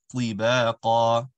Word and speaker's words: طباقا: طباقا, awesome sound. Letter ta is always going to be an awesome sound.